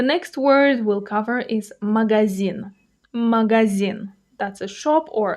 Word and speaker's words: магазин: The next word we'll cover is magazin. Magazin. That's a shop or a store. For example, я иду в магазин. I'm going to the store. The stress falls on the last syllable.